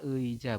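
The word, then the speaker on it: 의자: Vokal ei dibaca ei jika terletak di awal kata. Awal kata itu awalan, teman-teman. Contohnya ini ya. Ini kan ei ya. Eija dibaca eija, betul ya, dibacanya adalah eija seperti itu teman-teman.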